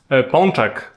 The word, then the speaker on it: pączek: Pączek. Polish donut. Ponchek.